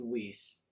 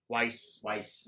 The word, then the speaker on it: Weiss: Now, speaking of Magic Bands, we actually have a listener question from Melissa Weiss. That's how you pronounce it. Weiss. Okay. I'll say Weiss.